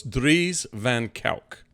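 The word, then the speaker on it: Dries van Kuijk: So it's Dries Van Kijck is the proper pronunciation of his name.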